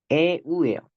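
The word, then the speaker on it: ευ: 얘는 에우예요. 에우, 에우. 하나로 발음을 해야 됩니다.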